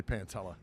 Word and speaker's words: Pantella: No, it's actually Pantella. It's like Pantera with two L's.